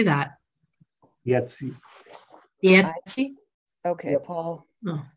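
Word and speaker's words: Iezzi: Yetzi.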